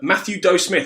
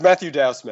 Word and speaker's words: Matthew Dow Smith: it's it is um Matthew do Smith have I pronounced your name right there yeah it's Matthew Dow Smith Matthew Dow Smith I